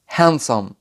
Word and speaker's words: handsome: وزي كلمة handsome. بننطق حرف الدي ت أو تي لما يجي في نهاية الفعل المنتظم في الماضي البسيط.